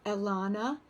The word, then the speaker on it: Alana: My name is Alana, which rhymes with Nirvana, and I'm here tonight